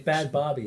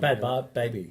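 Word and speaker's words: Bhad Bhabie: that chick that goes by the name of Bad Baby? She was on Dr. Phil. Oh yeah, well Bianca. With that Catch Me Outside. Yeah, How about she's got a that? new song out. She- Bad Barbie, isn't it?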